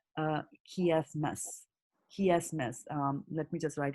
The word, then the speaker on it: chiasmus: so these are this is pronounced as chiasmus, and why it is called chiasmus? Why it is called chiasmus is that the chi, right? The chi, chi, chi, that the word chi is coming from the Greek language, right?